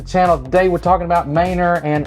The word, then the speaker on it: Manor: talking about Mainer and how many people do you give that mispronounced that the first time yeah quite a few actually yeah you know it's Mainer I mean it looks better it looks like Manor but it is Mainer so you got to get that pronunciation right so y'all make sure